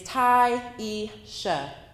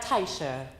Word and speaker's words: Tyisha: My name is Tyisha. Instead, I got Taisha, Tasia, Triisha, or some other version with silent letters.